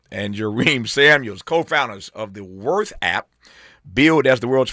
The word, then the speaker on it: WRTH: Worth is how it's pronounced.